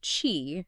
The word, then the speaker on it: Qi: of key right now Chi pronounced Chi is often translated as